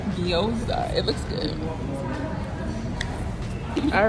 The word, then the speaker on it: gyoza: How you pronounce this again? Gyoza. Gyoza.